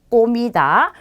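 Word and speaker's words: comida: 자, 이 친구는 오를 만났기 때문에 꼬로 발음하시면 되겠죠. 꼬미다.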